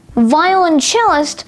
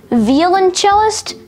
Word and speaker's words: violoncellist: Today's word of the day is violoncellist, spelled V-I-O-L-O-N-C-E-L-L-I-S-T, violoncellist. Violoncellist has two alternate pronunciations, violoncellist, violoncellist.